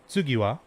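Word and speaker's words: つぎは: japanese in english uh the symbol for two can also be written out as or pronounced as tsu and ha can also be written out and pronounced as wah so this first word would actually be tsugiwa or this first phrase would be tsugiwa tsugiwa meaning in japanese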